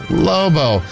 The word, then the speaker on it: Lobo: It's Lobo.